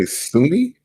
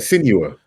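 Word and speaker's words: Senua: Did you say Sunni? Is it Sunni? How you say it? Sinua. Sinua. I said Sunia.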